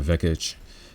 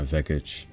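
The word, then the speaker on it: Vekić: be really good and by the way guys we don't pronounce those seeds like that over here Donna vekich yeah nah we don't pronounce those C's like that so but it's all you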